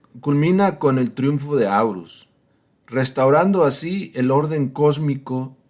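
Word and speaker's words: Horus: postumamente a su hijo, Orus o Aurus, como se pronuncia.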